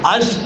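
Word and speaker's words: אש: அப்படிங்கற ஒரு உறுப்பையும் அந்த கே அப்படிங்கற உறுப்பையும் எடுத்துட்டோம்னா அஷ் அப்படிங்கிற ஒரு எழுத்துதான் அதை அப்படிதான் உச்சரிக்கணும் அந்த யோதுங்கிற எழுத்தையும் ஹேங்கிற எழுத்தையும் எடுத்துட்டா ஈஷான்னு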